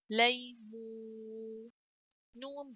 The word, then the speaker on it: ليمون: لام فتحة يا ساكنة لي. ميم ضمة واو مو لي مو. نون ضمتان نن ليمون ليمون.